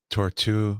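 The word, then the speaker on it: Tortue: cool stuff they had a tortu uh Cartier tortu oh really I'm pronouncing that right yeah yeah yeah yeah which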